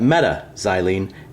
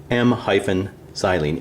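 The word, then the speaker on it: m-xylene: three would call that meta xylene em - xylene in words you still say meta we wouldn't say em xylene or Oh xylene we would say ortho xylene but when we spell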